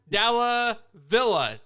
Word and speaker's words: Dalla Villa: today we have a very special guest Aaron dala Villa hopefully I said that correctly if I say